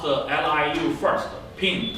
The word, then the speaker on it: Ping: Ping, P-I-N-G, like a ping pong.